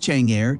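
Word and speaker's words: Chang'e: the moon for exploration The Cheney pronounced Chang air is an extremely ambitious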